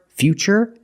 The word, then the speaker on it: future: That's right, it's ch, because we see T-U-R-E, we pronounce the T as ch. And we see T-U-R-I in futuristic. Again, the T is pronounced with the ch sound.